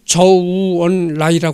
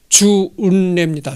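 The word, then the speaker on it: 周恩來: 참 중국에서도 유명한 사람인데 중국 발음으로 쓰는 조우원 라이라 하는데 그냥 한자 발음으로는 주운 레입니다 주은 나죠 주은래이 주은래가 그 우리나라 유교가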